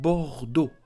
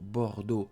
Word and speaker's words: Bordeaux: Paris, Marseille, Strasbourg, Bordeaux. So, don't forget, do not pronounce the ending, the last letter. Don't say Paris. Don't say Strasbourg. Don't say Bordeaux. No, do not pronounce them.